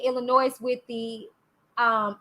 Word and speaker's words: Illinois: case i thought leah would be included in illinois since she and kelly was married there okay